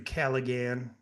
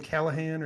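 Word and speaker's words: Callaghan: Uh that was also an interview with from Andrew Caligan. How do you say his name? Callahan.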